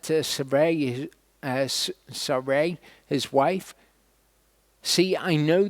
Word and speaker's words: Sarai: that he said to Sarai, his wife, see, I know that you are a fair woman to look at. Sarai is how that is pronounced in Hebrew.